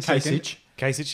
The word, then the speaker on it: Kasich: cich cich came in second that's better your pronunciation way came in Kasich yeah Kasich yeah and with like half the